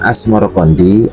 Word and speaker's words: Asmorokondi: Nama Asmorokondi adalah pelafalan lidah Jawa dari As Samarkandi.